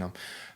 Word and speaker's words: Om: So Om is spelled A-U-M. Yeah. A lot of people see it as O and M. And Om is got 3 parts. So R, which is like A, which is like the source of creation, which